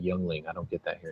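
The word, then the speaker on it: Yuengling: That's like Youngling. I don't get that here in Texas. Yingling. Yeah. One of my roommate's little brothers, he had no idea how to pronounce it, so he called it Eulinger.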